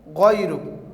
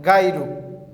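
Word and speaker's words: غَيْرُكَ: Okay, my dear students, you will say wa la ilaha ghayruk, not gairu.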